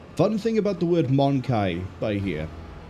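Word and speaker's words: Mon-keigh: Fun thing about the word Monkai by here. She's pronounced it Monkey. But if you play things like Dawn of War 1, where the Eldar are there, they pronounce it, like I just did, Monkai.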